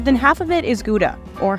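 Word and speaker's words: Gouda: a year more than half of it is guda or Hala as it's pronounced here Fran ctin is a Seventh Generation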